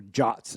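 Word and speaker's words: JWTs: JSON web tokens, or JOTs as they're supposedly pronounced.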